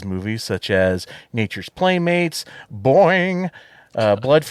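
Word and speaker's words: Boin-n-g: such as Nature's Playmates Boeing uh blood you have to say it that way because it's spelled b-o-i-n uh hyphen and hyphen G it wasn't just commentary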